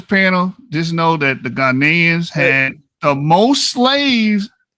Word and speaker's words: Ghanaian: They weren't called Ghian. You know what I mean by Ghanaian? You're not even educated. You're using the wrong. But hear what though. Here what orthodox. Ghanaian. That's how you say it. The proper way of saying Ghanaian take on orthodox.